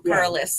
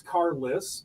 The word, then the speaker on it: Carlos: But but that is how it's pronounced if you're a local. Carless. If you're if you're a local, it's Cariss.